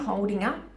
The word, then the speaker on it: holding up: Careful pronunciation, it's not holding. You can pronounce it like this, but more naturally, a natural way native English speakers pronounce this phrase is, how are you holding up? How are you holding up? So we connect the G and the U at the end of holding and up, holding up, holding up.